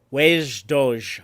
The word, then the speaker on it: wej Duj: season two episode nine wage doge i think is how you say that in klingon but i could be way off uh written by katherine